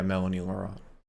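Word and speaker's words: Mélanie Laurent: you got that right there's an accent yeah yeah oh the math part i'm pretty sure it's still spelled melanie or pronounced well it's an ex on the u what did you call me um it means the e is pronounced a um but it's her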